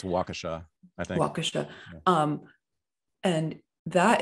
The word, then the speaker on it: Waukesha: know you have this i don't know how to pronounce it but wakasha the the christmas parade the guy who slammed into the christmas great i think it's waukesha i think um and